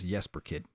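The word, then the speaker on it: Jesper Kyd: All right, that's Jesper Kid, because he's like, I forget what nationality he is. But the J is silent.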